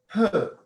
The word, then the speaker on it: peut: Peut. P-E-U-T. Now notice how the pronunciation is the same.